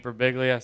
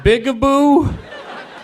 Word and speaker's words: Birbiglia: am I ever e1 pronounces my last name wrong telemarketers call to be like good afternoon may I speak with mr. oh man good big boo I'm like yeah big boo doesn't live here anymore even automated telemarketers